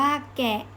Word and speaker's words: แก: พูด ตาม สิ คะ คำ ที่ 2 เป็น สระ เสียง ยาว คือ คำ ว่า แก ก + สระแอ อ่าน ว่า แก ก แอ แก ทุก คน ลอง พูด ตาม นะ คะ คำ ต่อ ไป